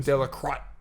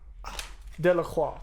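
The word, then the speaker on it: Delacroix: do this is Eugene De La crotch De La Croix de la cranks okay there's the accent I'm sure it's freaking the x is silent so good Lacroix uh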